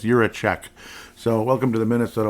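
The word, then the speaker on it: Jiříček: At first I was like, Jiricek, or Jura this, or Jura... No, yeah, it's Jiricek.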